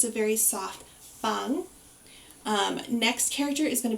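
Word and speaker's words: 방: pronunciation is very good our first character is going to be bang it's going to be a soft bee not um percussive like bang you don't want that sort of beat it's a very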